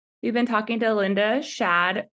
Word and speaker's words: Shad: Shad rhymes with Chad, who's the founder of Voidpet.